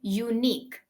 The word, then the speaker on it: unique: an unique obviously no although the spelling is starting with u but the first sound that you're making is y y is a sound of okay right so it would